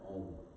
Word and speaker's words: Om: So the Sanskrit has a word called A-U-M, Om, or O-M, Om, which is the sound of creation.